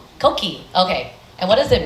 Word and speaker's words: Koqi: And did I pronounce it correctly? Koqi.